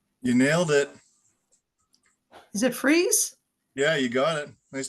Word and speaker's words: Friis: Is it Friis?